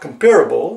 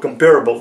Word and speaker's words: comparable: There is no word in English language called comparable. It doesn't exist. It is to be pronounced, you see, calm. C-O-M, calm. It's pronounced comparable, not comparable.